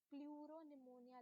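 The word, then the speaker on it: pleuropneumonia: तो यहाँ पे इसका क्या मतलब हुआ, देखो पी स्टैंड फॉर पहले का प्लूरो, उसके बाद नेक्स्ट पी निमोनिया, यहाँ पे ये वाला जो पी है ये साइलेंट होता है, ठीक है, ये बात नोट कर लेना।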